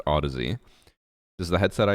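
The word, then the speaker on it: Audeze: like to call them, Audies. It's not an these nuts joke, but it is supposed to be pronounced Odyssey.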